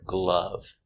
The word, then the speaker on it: glove: and with the word glove one glove to gloves the sound uh glove gloves I wear gloves in the